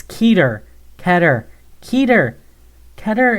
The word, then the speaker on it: Keter: It's Keter. It's Keter. Keter. Keter. Keter is closer to how it's pronounced in Hebrew.